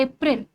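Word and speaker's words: April: अप्रैल जो ए की है जैसे डे में आती है ना साउंड डे में से में आती है। मे आती है बस वही वाली ए बस वही वाला ए अप्रैल क्या है?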